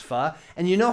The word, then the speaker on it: pho: is his pho soup pho believe it's pronounced fuh and you know how